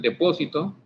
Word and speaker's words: Depósito: Ok, vamos a tener aquí de que nos vamos a colocar aquí el depósito. Depósito, lleva acento en la O, ¿verdad? Depósito.